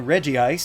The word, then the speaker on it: Regice: I just called mine Reggie ice since that's how some people pronounce it anyway and it must be